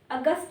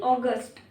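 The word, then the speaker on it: August: होगा ए होगा जुलाई अगस्त नहीं अगस्ट अगस्ट ट लगता है लास्ट में अगस्ट सिंबर अक्टूबर अक्टूबर नहीं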